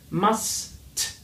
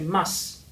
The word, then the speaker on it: must: Many people in Hong Kong, they say must, but that's wrong. You have to pronounce the T. It is there, it has a sound, so please do pronounce it, okay?